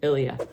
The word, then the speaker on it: Ilia: Ilia.